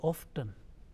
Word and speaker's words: often: f t n now commonly it is pronounced excluding T sound often o f d n is pronounced uh you know making a t letter silent often but it is also